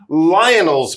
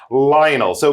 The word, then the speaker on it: Lionel: It says, "Marta is at Lionol's place. She could also be at Lionel's place, but we're going to go with the English pronunciation, Lionel." So Marta is at Lionel's place.